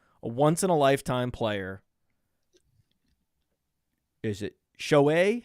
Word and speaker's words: Shohei: Is it Shohei? How do you pronounce his name? Shohei.